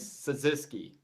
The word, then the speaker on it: Cyzycki: How do we pronounce it? I want to make sure. it is Cyzycki.